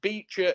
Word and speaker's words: Becher: so yeah name the Beacher winner have a go at both you can comment in both and also Adam the Beacher is spelled b EC I know not as